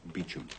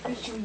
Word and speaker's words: Beauchamp: Beauchamp Walk, Southwest 3. Pronounced Beecham. Thank you, sir. Is that meaningful? Could be. Beecham Walk.